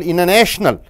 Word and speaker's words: international: is followed by t the t is not pronounced see for example international t is gone international